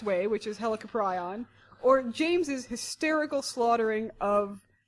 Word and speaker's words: Helicoprion: Helicoprion? I really, really like James's mispronunciation of helicopteron.